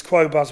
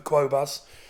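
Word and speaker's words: Qobuz: to use um as I say I use quas which is CD and highres music quality I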